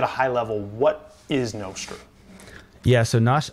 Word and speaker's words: Nostr: Can you explain, maybe at a high level, what is Nostr? Yeah, so I call it Nostr because I have an app called Damus, so Nostr Damus. Anyway, but some people call it Nostr.